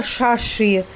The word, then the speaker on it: Шаши: Его русские зовут Саши. Ну, как произносится Шаши.